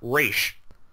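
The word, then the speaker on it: Ra's: him Roz uh it's it's pronounced race racial gold can you get that right but no it's always Roswell ghoul I'm also going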